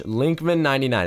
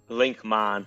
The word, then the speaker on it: Linkmon: Oh my gosh, Linkman99, is that how you say it, bro? That's good. No, Linkmon. Linkmon. All right, perfect, bro. You know what? I was actually thinking it. It's kind of like Pokemon, bro.